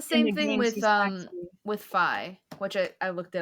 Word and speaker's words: Fi: thing with um with phi which i i looked it up and it's supposed to be five like rhyme with sky apparently according to nintendo so anyways i feel